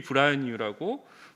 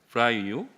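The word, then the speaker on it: Braille: 제가 항상 소개를 하는데 루이 브라이뉴라고 브라이유 브라늄 발음이 좀 쉽진 않아요 프랑스 사람입니다 그래서 이분이 점자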